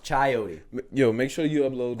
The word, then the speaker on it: chayote: know damn chayote yo are you sure you're pronouncing it correctly i yo i put it in google it's called it's pronounced chayote yo make sure you